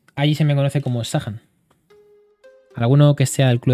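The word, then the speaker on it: Zachern: Y entonces el mote, que lo voy a decir, bueno, lo vais a entender, es Zahan. Se escribe Thatcher. Z-A-C-H-E-R-N. Se pronuncia Zahan. Y entonces, allí se me conoce como Zahan.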